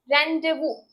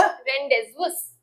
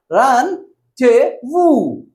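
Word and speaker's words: rendezvous: पहले हम इसकी प्रोनाउंसिएशन पढ़ेंगे, उसके बाद हम जो मिसप्रोनाउंस करते हैं वो देखेंगे और फिर मीनिंग देखेंगे. The word is रेंडेवू. रेंडेवू, रेंडेवू. Basically हम जो बोलते हैं वो क्या बोलते हैं? रेंडेवुस.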